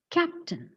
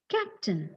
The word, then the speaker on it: captain: The next word is, yeah, captain. Okay, look at the correct pronunciation. It is Captain.